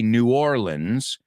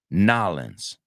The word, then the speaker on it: New Orleans: That's how I used to say it. Now I say New Orleans because I feel like that's closer to what they say. And do you know what they say? Nolans.